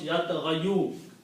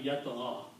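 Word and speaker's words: يطغى: Try to pronounce yat ghayu. Okay? So what we do, because ya is a weak letter and it has a mismatch, we adjust the sound to make it easy on the tongue. Yat gha. We don't pronounce this dhamma sound, so rest of the word will become yat gha.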